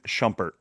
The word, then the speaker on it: Shumpert: I shumpert. I can't say it. Shumpert. Well, shumpert. That's what I said, right? No, you said shampert. Oh, whatever. Potato. Shumpert.